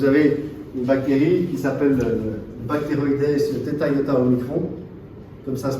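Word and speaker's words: Bacteroides thetaiotaomicron: Donc vous avez une bactérie qui s'appelle Bacteroides theta omicron, comme ça se prononce.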